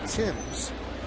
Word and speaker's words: Thames: Now, Eric spells his name the same way Marcus spells his name, the former Yankee, but Marcus pronounced his name Timms.